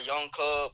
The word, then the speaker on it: YoungKub: Like you said, I go by YoungKub, spelled with a K. It's YOUNGKUB.